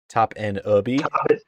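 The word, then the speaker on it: Topinabee: Google pronunciation is different than Michigan's. Oh gosh, here we go. According to Google, the AI overview, mind you. Oh yeah, AI. Top N as in EN, UHB. Top N Ubi.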